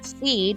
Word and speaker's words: cede: So the seed, while it is spelled with a C, has a S sound.